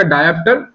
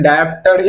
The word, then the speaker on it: डायप्टर: ऐसे भी होता है, कंफ्यूज होता है डायप्टर, क्या कि TER है और TRE है, लेकिन डायप्टर ही कहा जाता है, डायप्ट्रे नहीं कहा जाता है।